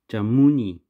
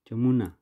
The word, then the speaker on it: Jamuna: No, Jamuni. Jamuna. Sorry, I butchered that.